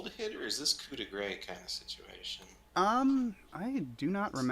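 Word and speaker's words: coup de grâce: Yeah, so they're running away, so it's not like a coup de grace situation. Coup de grace, whatever. Gra is the appropriate pronunciation. Which I did not do.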